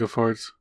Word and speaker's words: Vilgefortz: Yeah, the part where it comes across Geralt protecting Ciri and Vilgefortz, however you fucking pronounce that name. Yeah, it's Vilgefortz.